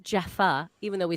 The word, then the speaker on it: Jaffa: say it well i'm saying it like it's pronounced jaffa even though we say java cake but it's